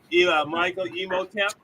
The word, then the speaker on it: Michael Imhotep: Michael Imhotep. Host of the nationally syndicated radio show, the Michael Imhotep Show.